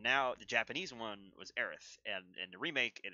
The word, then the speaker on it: Aerith: Also, Cloud is in there, and Aeris, which is interesting.